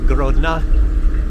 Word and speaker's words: Grodno: Well, I guess in Soviet or in Russian language, excuse me, they would say Grodna. I'm noticing that whenever there's a word that ends with an O, they don't pronounce it as O like the alphabet is supposed to be. They say like spasiba instead of spasibo, how it's spelled.